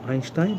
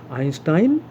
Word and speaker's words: Einstein: Children, the word Einstein, the name Einstein has two different pronunciations. Einstein, two different pronunciations. Einstein and Einstein both. I have found many educated people using these two pronunciations.